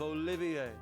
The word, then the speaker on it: Olivier: Also, I'll have you take care to say my name properly. I am the drifting poet and seeker of love, Olivier.